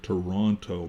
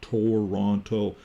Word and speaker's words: Toronto: have the city of Toronto. But if you look at it, Toronto, well, very few people ever pronounce that way. It's Toronto. That's how we say it in the West, or Toronto, or Toronto.